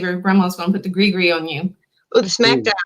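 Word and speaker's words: gris-gris: one is and it does not look like it sounds either grigri which is spelled g-r-i-s-g-i-g-r-i-s so greed gree what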